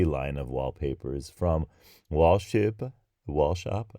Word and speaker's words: Wallshøppe: this email from Wallshøppe I think it's pronounced wall shop the reason that I said wall shöp-pah because it has a o with a stroke through it which I don't